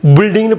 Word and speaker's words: building: பில்டிங்னு படிச்சிடக்கூடாது, பில்டிங். இந்த யூ வந்து இங்கே சைலண்ட்டு.